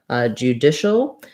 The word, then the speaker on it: judicial: I'm just going to write it here with just the letter L, judicial, because we don't really use much vowel there at all. So I'm going to move from that SH sound to the ul sound, shul. If there's any vowel at all in there, it's going to be a little bit of an sound, a little vowel schwa, judicial, shul.